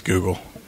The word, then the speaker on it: Googol: It's spelled kind of funny. It's Googol, I think, if I'm not crazy, but it's Google.